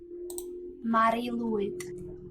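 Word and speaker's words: Mari Lwyd: Pronunciation. Let's see. Mari Lewid.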